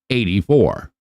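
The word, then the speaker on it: AD4: or YouTube and stuff, it's actually the letter A, the letter D, and 4, but it's pronounced 84.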